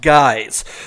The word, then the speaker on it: GYX: on the instagram page that's spelled g y x customs that's underscore customs and it's pronounced guys so you can see